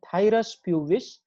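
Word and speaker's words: Phthirus pubis: scabie and this thyrospj is silent here we pronounce it as thyrus pubis it is also known as pubic lyse or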